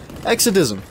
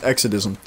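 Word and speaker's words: Exadism: So his YouTube channel, just so you guys know, is Exodism, because you can't follow him unless you know his channel. So just so you know, it's Exodism. That is spelled E-X-A-D-I-S-M.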